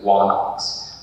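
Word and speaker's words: ἄναξ: So we know that some people's names originally had what pronounced W sound in front of it. So the word for king usually is written onox, but it was known as wanox.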